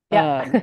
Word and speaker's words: Lusztig: Let me know if I pr mispronounce this. Lustig? Oh, Irene That's Lustig.